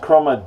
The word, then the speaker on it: Croma: Croma blades now um I believe is pronounced chroma dime at there they are right